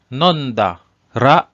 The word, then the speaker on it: nondara: In this example, "kusuri o nonda ra do desu ka?" So here, the pronunciation is nondara.